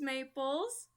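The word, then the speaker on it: Maeples: melody ring through um my name's Maples if you look me up on Tick Tock it is m-a-e-p-l-e-s underscore but if you look me up on Instagram it's Maples spelled the same way dot tree like a maple tree thank you love it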